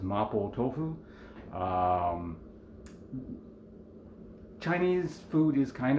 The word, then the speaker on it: Mapo Tofu: So we're going to be doing making Mapo Tofu, which is just how I pronounce it. Again, that's the Japanese way of pronouncing what you guys might be more familiar with as Mapo Tofu.